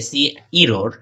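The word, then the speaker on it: cerr: এরপরে আছে হচ্ছে সি ই আর আর, এটাকে বলা হচ্ছে যে সি ইরোর, এভাবে উচ্চারণ করা হয়।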